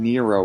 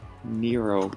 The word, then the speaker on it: Nero: came from okay and nero rhymes with zero that's the whole idea